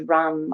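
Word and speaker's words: ram: The seed syllable is rum.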